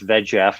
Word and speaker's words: VEGF: vascular endothelial growth factor it's the easy way to pronounce it it's vegf the egf and it's kind of